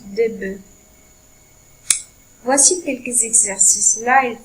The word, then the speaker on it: bœufs: Et il faut faire attention à la prononciation de noms qui changent, comme un œuf qui se prononce au pluriel des œufs et un bœuf qui se prononce des bœufs.